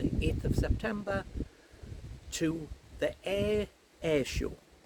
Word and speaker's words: Ayr: of September to the Ayr Air show. That's not me saying it wrong. There's a place called Ayr in Scotland and they're having an air show with planes.